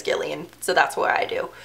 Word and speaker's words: Gillian: her right name wrong I know that 99% of people with their name like this say it Gillian but I've seen in reviews or interviews that she says Gillian so that's what I